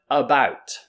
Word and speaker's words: about: example so the word about about so many people learning english they might think this is pronounced about because it starts with the letter a but actually this a is pronounced as a about what is this